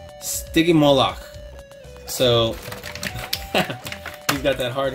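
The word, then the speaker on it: Stygimoloch: just like t-rex and if I'm not mistaken it's pronounced sticky Moloch so we've got that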